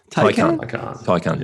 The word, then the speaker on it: Taycan: I've been pronouncing it wrong. Taycan.